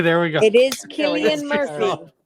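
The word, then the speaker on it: Cillian: name Jesus Christ yes it is to be pronounced klian okay there we go it is klian Murphy klian not to pronounce c anyway that's that's my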